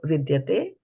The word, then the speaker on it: vidyate: It is not T. T, if it's a simple T is written, it's pronounced as ta in Titili. So vidyate, bhāvo. Nābhāvo, vidya. So dya is pronounced as dya and not daya.